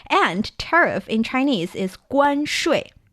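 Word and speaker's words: 关税: And tariff in Chinese is 关税. 关税. Perfect. Again, this is 关, that's the first tone. 税 is the fourth tone. So you're going 5-5-5-3, right?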